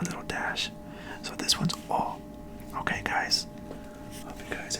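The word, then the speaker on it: お: line here a little Dash so this one's all okay guys hope you guys are taking notes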